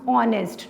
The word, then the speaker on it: honest: word honest i pronounce honest not honest fine it's mean h is silent and my word begins with o so that's why i'm